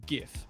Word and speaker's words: GIF: correctly pronounced except for GIF. Fair enough. That's my only exception. The only one one rule. You're just wrong. It is a hard J.